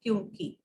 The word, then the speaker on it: क्योंकि: तो इसको विशेष तौर पे ध्यान दीजिएगा कि इसका जो उच्चारण है वो होगा क्योंकि।